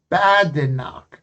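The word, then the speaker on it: Badenoch: Spell and pronounce Chemy's full actual name. Bad knock.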